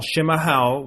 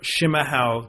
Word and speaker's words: chimarrão: showing you is how to prepare a traditional schima hell which is yerba mate a or herbal much as they pronounce it here in southern Brazil from a true Brazilian living in Porto Alegre Brazil jr.